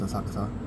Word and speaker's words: Asakusa: I did go to Asakusa today, or Asakusa, if you want to pronounce it that way, but locally it's Asakusa.